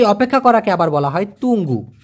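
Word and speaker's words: tunggu: সেই অপেক্ষা করাকে আবার বলা হয় তুঙ্গু। টি ইউ এন জি জি ইউ। উচ্চারণটা হবে তুং গু।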